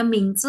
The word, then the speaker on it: 名字: Jadi kalau kita ngisi form, kalau misalkan ada 叫 nama, 名 ada huruf 字 Mandarinnya, kalau ada huruf seperti ini nih, ini bacanya Mingzi, berarti kita disuruh tulis nama, gitu.